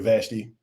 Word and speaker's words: Vashti: You have King Ahasuerus, and I'm going to start with, every time I've heard this name pronounced by somebody, I know they're called Vashti. I've also heard Vashti.